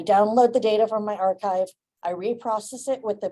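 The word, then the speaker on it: arXiv: you can go to Archive that is how it's pronounced despite the weird spelling um this is just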